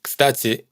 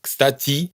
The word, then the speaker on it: кстати: Todas estas últimas sílabas suenan igual, aunque en кстати hay una i y en el resto hay una ye. Esto hay que tenerlo en cuenta porque a menudo nos ocurre que intentamos ajustar la pronunciación a lo que vemos escrito, y nos esforzamos por pronunciar una i en кстати y una ye en делаете. Pero para un ruso son vocales indistinguibles.